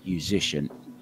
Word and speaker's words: Juszczyszyn: And he said, well, if you imagine, it just rhymes with musician, basically.